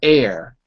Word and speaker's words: heir: to you as the heir. Heir is spelled H-E-I-R, as the heir, not A-I-R, like the air we breathe.